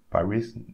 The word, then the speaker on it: Paris: So again, Paris. We don't pronounce the S in French.